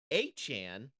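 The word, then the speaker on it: Achane: They because the Jaguars also lost running back achan. That's how you actually pronounce his name apparently.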